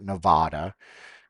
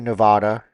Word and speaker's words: Nevada: Nevada by the way it's not Nevada any politician wants to say thank you Nevada well then they don't really really understand people that live here cuz that's not how you pronounce it it's Nevada like an ah ah we just landed